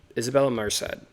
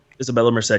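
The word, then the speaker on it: Isabela Merced: Isabella Merced. I don't know Yes, if that's how you pronounce her last name. Isabella Merced.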